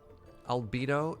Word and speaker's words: Albedo: Albedo is a near sound-alike to libido, if that helps.